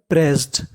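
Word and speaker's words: pressed: अब देखिए यहाँ पे 2 बार एस लिखा है अगली मीनिंग में, लेकिन उच्चारण केवल 1 बार करना है। और ईडी को हम लोग पढ़ते हैं डा, तो क्या बन गया? प्रेस्ड।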